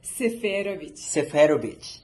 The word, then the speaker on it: Seferovic: what's your last name again how do you pronounce it seich oh my God yes how you say it again seic seov yes and where is it from this is